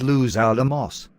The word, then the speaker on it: Los Alamos: Okay, it is pronounced Los Alamos.